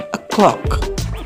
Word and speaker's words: o'clock: Jadi, jika jarum panjang tepat di angka 12, kita menggunakan a clock. Ya, kalian kan sering dengar ya. Clock. Gimana bacanya? Clock. Bukan. Clock. Yang betul itu a clock.